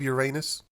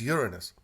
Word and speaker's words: Uranus: it time to probe Uranus okay no more jokes I don't even use that pronunciation I use Uranus it's true to the Latin yes I know Uranus